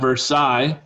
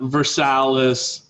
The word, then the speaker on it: Versailles: and the church at versailles this is how you say that word versailles not versailles not versaless not versailles versi ambitious nobles competed for